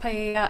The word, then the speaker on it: paella: be used to cook paella. I'm not sure if that's how you pronounce it, at the party. It's pronounced paella.